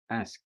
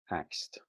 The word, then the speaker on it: asked: a simple question so you would say asked but honestly a lot of people say axed yeah okay what is